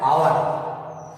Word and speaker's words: hour: इसी के दूसरे भेद में देख लीजिए, जैसे HOUR, ये हिंदी में पढ़ा जाता है आवर। अब घंटा इसको बोलते हैं। अब है तो ये कॉन्सोनेंट है, लेकिन इसका उच्चारण हम किससे करते हैं, वावेल।